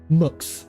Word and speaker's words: Mx: Although how do you pronounce that exactly? Let me just check. Mux. Oh, Mux.